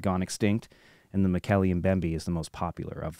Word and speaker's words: Mokele-Mbembe: Roy Mackal, he says it's pronounced Mokele-Mbembe.